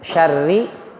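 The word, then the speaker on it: شَرِّ: Lalu yang berikutnya syarri. Kata syarri karena ra-nya berbaris kasrah, maka kita bacanya tarqiq tipis.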